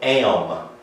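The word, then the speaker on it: עם: I want you to, P-E-O-P-L-E in Hebrew is the word, it's spelled like that. We would call it am.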